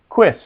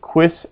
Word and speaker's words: quis: that from last time how do you say who you remember quiz quiz s who are you quiss s in b this